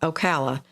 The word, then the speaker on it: Ocala: fun fun time Peter says yes so call Ocala Cindy's Hometown you said it right oh wow